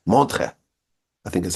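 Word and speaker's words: Montreux: It's spelled with like E's and U's and X's, but the X is silent. Montre, I think is how you pronounce it.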